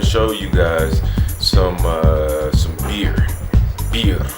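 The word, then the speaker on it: birr: Beer. Not alcohol, not Budweiser, but it's Ethiopian money. It's called beer. It's spelled B-I-R-R, which is their dollars.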